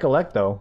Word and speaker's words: Alecto: - symphony no electro I like Alecto not electro Megan not as deep